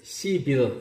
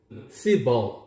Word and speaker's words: civil: 우리 한국인들은 이 단어를 civil 이렇게 발음을 하죠. civil, 벌로 되어 있습니다. civil. 스트레스는 맨 앞에 있거든요.